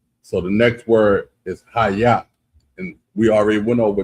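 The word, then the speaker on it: היה: So, the next word is haya. And we already went over this one. It's spelled a hide h a y a y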